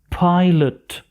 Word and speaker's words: pilot: a pilot. طبعا في آخر الكلمة تلاحظون LOT تلفظ على هذا الشكل lit وليس lot. a pilot.